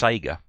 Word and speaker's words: Sega: Well, I think you'll first find it pronounced Sega.